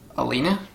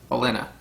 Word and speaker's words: Olenna: Baelish and Alina? Shit. Olenna.